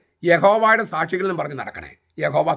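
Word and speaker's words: Yahweh: യാഹ്വേ എന്നതാണോ യഹോവ എന്നതാണോ ശരി? യാഹ്വേ എന്നതാണോ യഹോവ എന്നതാണോ ശരി? ബൈബിൾ പണ്ഡിതന്മാരെല്ലാവരും പറയുന്നു യഹോവ എന്നത് വ്യാകരണപരമായി അസാധ്യമാണ്.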